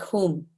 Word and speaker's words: HUM: When we see HUM here in this way, it can sometimes be pronounced more like hum and more like whom.